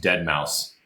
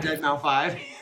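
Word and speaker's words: deadmau5: sorry Evan it is it is also pronounced dead mouse that's dead mouse no no no I'm saying dead dead mouse is not dead it's not dead mou 5 yeah okay I did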